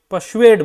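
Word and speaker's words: persuade: परसुएड बोलते हैं, are silent है।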